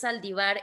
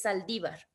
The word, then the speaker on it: Saldívar: ministro el apellido del ministro no es saldivar es Saldívar obviamente porque tiene el acento e cuál otra en